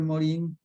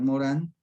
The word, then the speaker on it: Morin: de 1998 la precisamente edgar morin o edgar morán y a veces digo moreno morán se puede pronunciar de las dos formas se llama así el